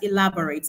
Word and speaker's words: elaborate: I've seen my answer already, but let's look at elaborate. Now, elaborate ends with ATE. So because of the end, that's the suffix ending there, we are going to place the stress on the antepenultimate syllable.